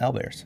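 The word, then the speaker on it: owlbear: calling them Al bears like o WL and Al Bears yeah before okay before the stream roll the tapes back we had a spell it and he said Al did or I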